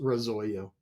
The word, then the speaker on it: Razoyo: And so, the Italian word is r o, but it's pronounced the same way our company is pronounced, Rosoyo.